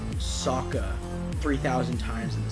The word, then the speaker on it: Sokka: his name sokka i'm pretty sure they said saka three thousand times in the series it is spelled s-o-k-k-a not s-o-a-k-a and why is his